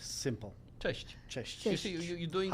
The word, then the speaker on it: Cześć: pronounce. Okay, so how would Juszkiewicz. we say hello? Hello. Dzień dobry. Cześć, dzień dobry. Cześć. Cześć is like simple. Cześć.